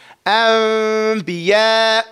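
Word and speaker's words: أنبياء: The noon is not pronounced.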